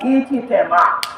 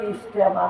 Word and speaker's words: ইজতেমা: আজকে সারা বিশ্বের সমস্ত মুমিন মুসলমান বাংলাদেশের ইজতেমার মাঠে এরা জমা হয় ইজতেমা। আসলে কিন্তু ইজতেমা না, আসলে হইল ইজতেমা, ইজতেমা। কিন্তু এটা উচ্চারণ করতে তোমার মানুষের কঠিন হয়।